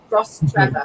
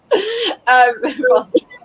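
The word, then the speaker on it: Rostrevor: So someone is saying, Kate, say it like the name Trevor, Rostreva. Yeah, that's basically yeah. Okay. Rostreva.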